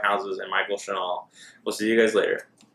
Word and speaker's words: Shinall: And Michael Chanel, I hope I had to say that right. It's spelled Shinall. Yep.